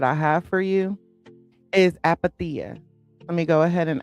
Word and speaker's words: Apatheia: Again, pronounced app the uh apaththea.